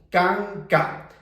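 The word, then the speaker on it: kanka: Canca. Ahora te explico el truco. Entonces, esta sílaba que nosotros tenemos se va a pronunciar K.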